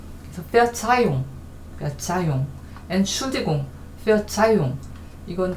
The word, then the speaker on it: Verzeihung: Verzeihung 여기 하가 있지만 요거는 모음 다음에 나오는 하니까 묵음이죠. 그래서 Verzeihung, Entschuldigung, Verzeihung 이건 다 용서라는 의미고요.